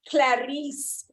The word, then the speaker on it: Clarice: now my friend clarice clarice like they did in silence of the lambs folks when i met clarice she told me this is how you pronounce my name just remember what the doctor said clarisse yes sorry that was